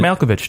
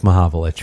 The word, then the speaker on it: Mahovlich: yeah yeah and Freeman malkovich tomb made ma Jamaa vilage yeah is that how you pronounce Malkovich yeah it's it's Frank Mahovlich thank you it's okay